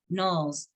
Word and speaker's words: knolls: I swore off everything creamy and sweet coating my belly when the boys at school called my chest buds knolls from our vocab test, rhymes with trolls.